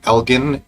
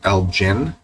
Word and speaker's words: Elgin: Okay, home team Elgin, if I'm pronouncing it right. Elgin City. Or Elgin. I'm thinking it's a hard G.